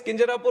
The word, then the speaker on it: Kinjarapu: Copernicus later hey and my name is Kinjarapu Rammohan Naidu and when some people say Kinjarapu there might be some problem with them they can't pronounce it the way I pronounce it but that